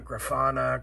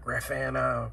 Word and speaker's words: Grafana: influx set up with grafana graffana however the southern people pronounce it different from the northern or the eastern or the western so just trying to